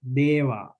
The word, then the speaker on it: deva: These words this A we pronounce long because there are only one consonant. There is only one consonant, deva. And sena, same here. We pronounce long because there is a one consonant.